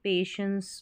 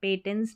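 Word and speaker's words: patience: के साथ, और पे, यहाँ पर TI है ना, इसको श पढ़ते हैं, ENCE को एंस पढ़ते हैं, तो पेशेंस बन गया, पेटेंस नहीं पढ़ना है।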